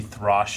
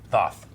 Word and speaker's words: Thoth: Maybe Throsh is the place where they monitor and they Thoth. Throsh. Why wrote Throsh? I don't know. I told you how to spell it. It's like You did. Hoth, but with a T.